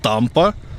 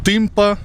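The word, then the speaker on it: Tâmpa: місті брашов є гора написано що вона називається Тампа але читається тимпа Тому можливо і озеро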